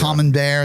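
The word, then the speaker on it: Camembert: common bear.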